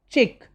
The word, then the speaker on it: chic: is chef means a cook next is c-h-i-c chick very smart cuisine c-u-i-s-i-n-e its pronunciation is cuisine means fine food okay next